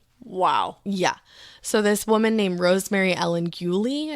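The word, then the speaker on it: Rosemary Ellen Guiley: So, this woman named Rosemary Ellen Gulie, I believe is how you say it.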